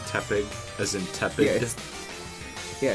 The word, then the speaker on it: Tepig: Not Tepig, as in tepid. Yeah, it's Tepig.